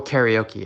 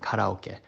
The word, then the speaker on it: karaoke: most joy growing up there was karoke or karaoke as you would say in the west but I'm going to call it by its proper pronunciation karoke.